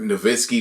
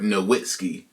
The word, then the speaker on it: Nowitzki: was talking about Dirt Nowitzki when I thought it was just a W, Dirt Nowitzki. But yo, the W is really like two V's for real.